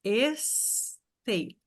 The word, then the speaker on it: estate: Agora a gente tem uma sílaba a mais no começo. Estate. Estate. Aqui ficam duas.